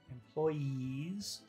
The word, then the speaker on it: employees: So really the only big difference between word number one, employees, and employers is the vowel sound. So let's take a look at number one, employees. Is that a long sound or a short sound at the end? Employees. That's very long, very hard sound.